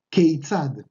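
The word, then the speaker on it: כיצד: Y la otra palabra, la que es para la manera formal, es keitzad. Keitzad, que se escribe con Haf, Yud, Tzadik, Dalet. Otra vez, Kaf, Yud, Tzadik, Dalet. Y esto suena Keitzad.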